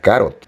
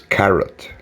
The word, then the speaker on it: carrot: Antes de saber cómo se pronunciaba, decía carot, pero no, es carrot, zanahoria.